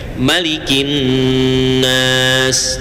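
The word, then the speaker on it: مَلِكِ النَّاسِ: Kalau dalam surah An-Nas cara bacanya hanya satu, dibaca pendek. Malikin nas. Jadi kalau di surah An-Nas dibaca panjang, malikin nas, salah itu.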